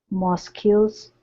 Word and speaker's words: mosques: Mosques. Mosques. So it's a KS sound. Mosques. Mosques. Okay, so you're almost there. So pronounce the K, so it's ks, ks.